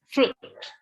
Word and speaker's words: fruit: So it's fruit. We don't pronounce I, it's just fruit.